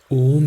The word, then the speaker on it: ॐ: आपने यह सुना होगा सदगुरु से कि ओम नहीं होता। It's not O. यह होता है, लेकिन सच्चाई यही है कि सही प्रोनाउंसिएशन ओम ही होता है। लेकिन सदगुरु भी एक तरह से सही हैं, जो हम लास्ट में समझेंगे।